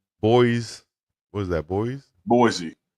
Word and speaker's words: Boise: what is that boy Boise you can say Yeah Boy Idaho that's supposed to be Boise Idaho yeah that's how you